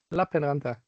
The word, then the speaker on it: Lappeenranta: Before you start, how do you pronounce the L in the LUT, please, of the university? Lappeenranta.